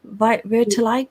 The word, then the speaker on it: vitiligo: Vitiligo? You pronounced it perfectly.